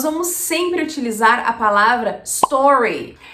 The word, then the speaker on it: Stories: sempre utilizar a palavra Stories e a pronúncia correta vai estar sempre com a tônica em ó e o s ele vai ficar a gente não coloca uma sílaba ali então a gente faça